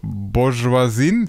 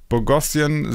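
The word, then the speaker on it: Boghossian: Also, Michael schreibt: Professor in Klammer, nicht in Klammern, in Anführungszeichen Bourgeoisien. Habe ich das richtig ausgesprochen? Bourgeoisien. Bogossian. Oder Bogossian. Bogossian ja.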